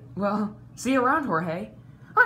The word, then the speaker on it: Jorge: Oh, hey, George.